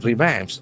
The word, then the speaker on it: revamp: It revamps. REVAMP. So that is a very interesting verb. Revamp. Revamp. Again, there are two syllables. Accent falls on the second syllable.